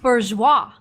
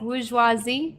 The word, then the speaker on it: bourgeoisie: I always thought that it was bourgeois. No, bourgeoisie. Yeah. Well, it's bourgeoisie. Well, bourgeoisie is the plural form.